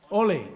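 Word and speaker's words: olé: it emerge ole ole the stress is on the o o yes we don't say ole in Spain Ole because it's a burst it's an explosion so the first letter is the one that is stressed H so about the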